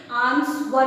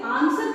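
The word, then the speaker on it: answer: अभी यहाँ पर हम इसे आंसर कहते हैं, आंसवर नहीं। रिपीट करिए मेरे साथ, आंसर, आंसर नॉट आंसवर, गलत है।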